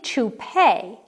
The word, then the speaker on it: toupee: it's amish number two it looks like 2p but it's really toupee because it comes from the french a toupee is a